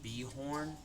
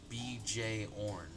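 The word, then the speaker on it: Björn: see scavenger said but Jordan is pronounced be horn or BJ horn why would it not just be the Jorn herpes says I say Bjorn with like a why this is really interesting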